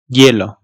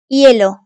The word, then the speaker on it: hielo: H harfi ise yalnız başına kullanıldığı zaman, yani C'den sonra gelmediği her durumda hayalet bir harftir, okunmaz. Yani varlığı yokluğu bir harf. Hielo. Ahora. Coherente. Cacahuete. Hielo.